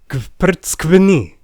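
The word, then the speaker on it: გვფრცქვნი: it with me now, Kprtskvni. Yes, that is one single syllable. It means you peel us, and it starts with you pronouncing a bunch of consonants before you get any relief with that vowel.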